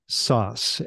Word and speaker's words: Szasz: So it's Szasz, and that is just like pizza sauce, but it is spelled SZASZ, and that's from Hungary, where they like to